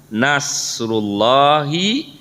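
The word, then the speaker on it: نصر الله: Idza apabila jaa telah datang nasrullahi, nah dibacanya satu aja ya karena ini kata majemuk, satu-satu kesatuan.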